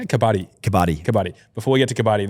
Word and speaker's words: Kabaddi: So you're playing this new sport called Kabibi, and you said you got to. Is it Kabibi? Kabaddi. Kabaddi.